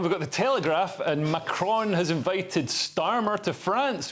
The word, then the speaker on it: Macron: Yeah, well, it's interesting because Macron, I love that, about pronouncing his name properly, Macron, breaks protocol to host Starmer at the Élysée